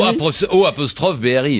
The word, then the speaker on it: Aubry: O' BRI. Et évidemment. non, A-U-B-R-Y, Il ça est aux- s'écrit.